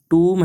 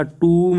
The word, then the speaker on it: tomb: तो पता है कि एम के आगे बी आता है, बी साइलेंट रहता है, लेकिन ये टूम है या फिर ये टोम है या फिर ये वाला टूम है, तो उत्तर रहेगा ये नीचे वाला, ये टूम ही है।